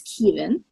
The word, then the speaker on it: Keevan: So Keevan, and it's pronounced, it looks like Kevin, but it's Keevan.